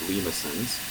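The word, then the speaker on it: limaçon: these are called lisin so here's how it's pronounced lisin um and Lins are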